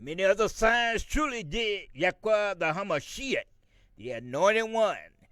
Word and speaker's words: Yahweh: So the only name that we can call on, my people, is the four letters YHWH, which we pronounce Yahweh.